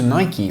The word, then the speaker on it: Nike: world for example if you head over to nike or nike because some of you would pronounce it if you buy anything on my